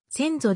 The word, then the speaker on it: 千僧: 駐屯地を有する町名としての戦争の読みは先祖であり糸 3 種役所のサイトでも兵庫県伊丹市戦争一丁目一番地と読み仮名が記載されている戦争駐屯